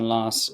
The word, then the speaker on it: Lars: And so fundamentally, that first expression, hejsan Lars, is in the Swedish accent. The Lars component is obviously has a softer S to it, which is how it's pronounced in Swedish.